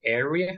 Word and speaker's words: area: what isn't okay isn't we say area remember like an a area affordable and unfortunately okay